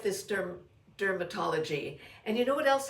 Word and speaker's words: DRMTLGY: This is, I guess it's dermatology, but it's spelled DRMTLGY.